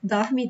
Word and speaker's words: dorme: So, in the song, you're gonna hear more like dorme, dorme. Dorme, dorme, meu amor. In my region, we would say dorme. So, it doesn't matter. You can say it both ways.